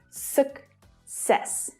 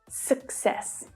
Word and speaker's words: success: But actually, each C in this word is pronounced differently.